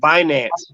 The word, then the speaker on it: Binance: So basically, it's finance, but just swap out the F for B.